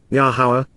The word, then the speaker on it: Yahowah: kohani as ministers and Royal advisers of yahuwah yahuwah the proper pronunciation of yahuwah are a lower God is